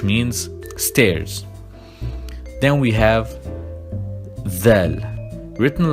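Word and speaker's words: ذال: Then we have dhal, written like dal, but the point is on top, and we pronounce it like the English the.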